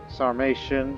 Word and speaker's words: Sarmatia: asia numb regions so i figured out the pronunciation it's a sarmatian sarmatia so you know kind of like croatian away um in terms of my